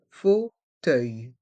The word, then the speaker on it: fauteuil: le fauteuil le fauteuil dans le mot fauteuil il y a deux sons différents le son o avec les voyelles a et U et le son œil avec les lettres e u i l œil fauteuil fauteuil le